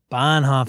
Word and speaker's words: Bonhoff: Bonhoff is B-A-H. He complimented me for pronouncing his name right. It's Bonhoff.